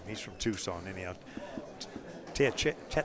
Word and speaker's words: Teyechea: Teyechea. It's a tongue twister. But you got Scott's name right. That's the important thing. Yeah, well, it's Teyechea. Wow. It's pronounced as a little bit different than it's spelled.